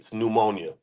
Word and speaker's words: pneumonia: don't have to spell it starts with a P pneumonia I know some it's hard